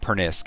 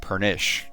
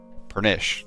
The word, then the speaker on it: Pernisk: Wait, so it's not Pernisk, it's Pernish, right? Pernish, yes.